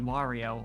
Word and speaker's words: Wario: But it's such like an ingrained thing that if you told me, no, it's pronounced like Wario, like Mario, but with a W, I'd be like, yeah, that's how I said it.